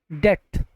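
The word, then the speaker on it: debt: एंड डेट, डेट मतलब भी होता है कर्ज। यहाँ पर बी लेटर जो है हमारा वो साइलेंट है।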